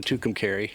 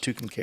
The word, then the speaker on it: Tucumcari: you earlier, when I had a friend that was telling me they broke down in Tucumcari.